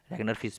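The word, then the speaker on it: Ragnar Frisch: Micro and macro economics के पिता कौन है, रैगनर फ्रिश, ठीक है। रैगनर फिश भी कहते हैं, आर कभी कोई साइलेंट भी कर देते हैं बोलते बोलते।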